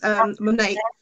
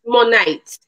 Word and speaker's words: Monat: The product, the actual product itself is Monate, and it's shampoo and conditioner. Two in one. So it's Monate.